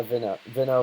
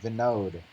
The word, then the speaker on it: Vinod: Yeah, Vino versus Javi. No, not Vino. Vinod.